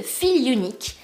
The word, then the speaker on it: Feelunique: J'ai testé le site Feel Unique. Alors je ne sais pas si vous connaissez, je pense que ça se prononce comme ça parce que là c'est écrit Feel et là c'est écrit Unique.